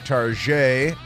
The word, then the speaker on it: Target: heard of called targets some people use the French pronunciation of Tarjay Target CEO warns of